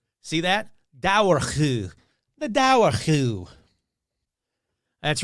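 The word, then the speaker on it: Dobhar-chú: It's not Doberchew, I can tell you that. All right. All right, here we go. Since the 1600s, there have been written accounts of the Dowerchu. See that? Dowerchu.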